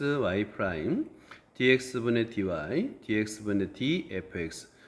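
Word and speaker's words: dy/dx: dy dx 얘는 분수가 아닙니다. 여러분, 요건 분수가 아니에요. 분수가 아닙니다. 그래서 dx분 dy라고 읽으면 안 돼요. 분자부터 dy dx.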